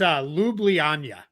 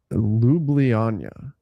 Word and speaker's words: Ljubljana: It's Ljubljana. Ljubljana.